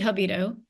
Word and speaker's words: Jabido: Is that Jabido? It's actually Jabido.